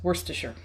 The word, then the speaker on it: Worcestershire: If you Google how to pronounce this, it's Worcestershire.